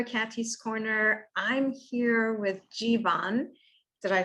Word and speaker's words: Jeevan: name it is it i just say keep it simple alphabet g number one g1 yeah exactly well thanks